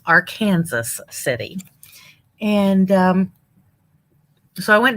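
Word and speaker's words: Arkansas City: our kansas city and no it's not arkansas even though it's spelled arkansas it's our kansas city and um so i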